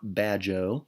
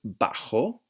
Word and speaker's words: bajo: study this week okay be careful with some pronunciation this is not bad Joe okay this is bajo bajo this is not Generoso this is head